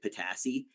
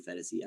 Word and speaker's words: Phetasy: I pronounced it Phetasy. And then once I heard it right, I'm like, oh, okay, so I'm a jackass. It's obviously Phetasy.